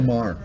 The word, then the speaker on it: Maher: Like the guy in HBO, Bill, how you pronounce his last name? Bill Maher? Bill Maher.